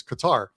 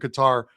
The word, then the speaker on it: Qatar: This is the group that has Canada in it, Bosnia and Qatar which some of you will pronounce as Qatar, but it is Qatar.